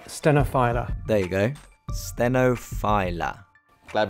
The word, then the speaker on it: stenophylla: How do you pronounce stenophylla or phylla or stenophylla? It's Coffea stenophylla.